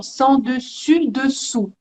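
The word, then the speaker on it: sens dessus dessous: Sergio, l'expression sans dessus, dessous, hein? Sans dessus, Oui, dessous. Ouais. faites attention à la prononciation. Sans Oui. dessus, dessous. Ah, on a le son U et Oui, O.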